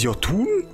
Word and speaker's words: Jotun: Ist das etwa das Horn eines Jotun? Also spricht man die aus.